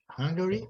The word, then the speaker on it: Hungary: Hungary é a primeira sílaba, certo? Hungary. Ele muda lá. E Hungarian. É na segunda.